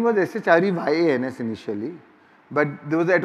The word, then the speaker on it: Shreyans: There is no Y or there is no H, but the pronunciation remains the same. Little louder. Yeah. But the pronunciation remains the same as Shreyans.